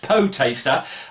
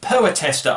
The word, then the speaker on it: poetaster: Now, it looks like it should be pronounced poetaster. It's actually pronounced poetester, I believe, and it means an inferior poet, a writer of trashy verse, especially one with pretensions.